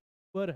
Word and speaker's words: sewer: sewer कहते हैं gutter को, का प्रोनाउंसिएशन sewer है, SEWER.